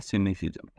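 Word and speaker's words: cynicism: इसको प्रोनाउंस कैसे करता है? सिनेसिज्म।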